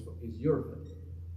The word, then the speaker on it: Hereford: So the way they pronounce Hereford, where I'm from, is Euroford.